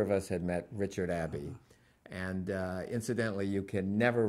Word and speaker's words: Abbe: And Abbe is spelled A-B-B-E, and he was always concerned that you'd know that it rhymes with tabby, because he was not